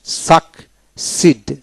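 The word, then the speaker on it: succeed: সিড এক্সিড রাজি হওয়া মেনে নেওয়া তারপর আসেন সাক সিড সাকসিড তার মানে এসও সি সাক সি ডবল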